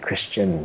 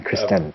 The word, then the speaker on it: Kristen: It's Kristen Griego. I messed it up for like 10 years. Not Christian. Kristen.